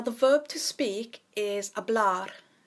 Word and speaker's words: hablar: verb to speak is a blood the H is silent so we just have a blood and to say to